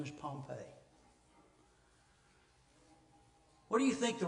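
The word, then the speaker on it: Pompey: the town spelled a little differently but it pronounce as his same his name is Pompei what do you think the Romans thought after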